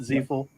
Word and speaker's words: Ziefel: sorry I apologize but is it zful no you you nailed it and you know what